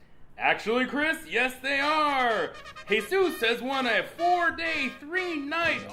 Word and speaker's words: Jesus: You're my friend and I love you, but first of all, I'm not Jesus. My name is pronounced Jesus.